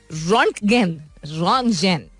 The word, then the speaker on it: Röntgen: German physicist थे, इनका नाम था विल्हेम कॉनराड सही तरह प्रोनाउंस करो Salmeen, रॉन्टगेन, I should just pronounce it अंग्रेजी point of view से.